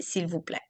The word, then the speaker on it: s'il vous plaît: Merci et s'il vous plaît. The Okay. people, the way it's spelled, and when you slow it down, you hear the L, but mostly when people say it, you just hear s'il vous plaît.